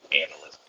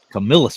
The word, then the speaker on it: Camillus: They were all made by Camillus. Yeah. Yeah. thank God no one's saying Camillus. I'll have to take them off Camillus. the show. That drives me insane. Camillus. Camillus, people.